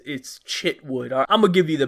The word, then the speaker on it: Chitwood: mean, Sheriff Michael, but C-H can be pronounced like, Chicago, so that would be like Shitwood, or it could be pronounced like Chip. Like you're eating some chips, and that would be Chitwood.